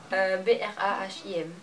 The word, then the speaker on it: Brahim: B-R-A-H-I-M.